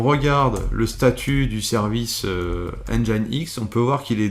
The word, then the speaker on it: Nginx: va faire c'est tout simplement un apt-get installe engine x qui s'écrit de cette façon tu irais y pour